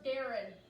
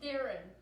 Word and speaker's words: Darron: So, by the way, Ali, it's pronounced Darren. You always pronounce his name wrong, and he finds it hilarious. It's Darren. It's spelled Darron, but it's Darren.